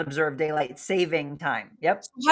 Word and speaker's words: daylight saving: So, it is daylight saving, not savings. It's daylight saving time. That is the correct official term, not savings.